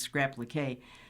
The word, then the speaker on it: scrap-liqué: While she mostly creates entirely new garments from patches, Craig also excels at what she calls scrap-leak, or scrap-liqué, I'm sure that's pronounced scrap-liqué, sewing patches onto a piece of clothing for decoration.